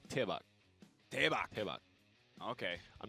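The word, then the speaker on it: 대박: Debak is supposed to be pronounced with more of a T. Oh, yeah? Yeah, it's more like Tebak.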